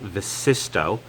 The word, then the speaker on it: Vsysto: Right out of the box, I can tell you that this Vsysto, and that's pronounced Vsysto, dash cam is high quality.